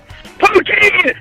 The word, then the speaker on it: poutine: Poutine! It's pronounced poutine, you fucking idiot!